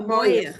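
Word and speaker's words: מוח: No, Moyer. Moyer. Moyer. Like Okay, Moyer, koyach. It great. rhymes with koyach.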